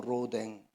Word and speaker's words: 로댕: 한번 들어보셨을 겁니다 로뎅이라고 하는 오뎅 발음을 잘해야 됩니다 로댕 오뎅이 됩니다이 로댕이라고 하는 분이 근데